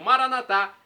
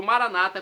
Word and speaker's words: Maranata: E agora eu clamo Maranatá, como dizemos nós católicos, ou Maranata, como dizem nossos irmãos separados. Não importa a pronúncia, o significado é o mesmo.